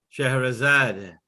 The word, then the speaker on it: Scheherazade: I don't want to pronounce it incorrectly. Scheherazade.